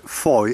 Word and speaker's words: Fowey: or should I say Foy it's spelled f-o-w-e-y but it's pronounced four apparently and there there's a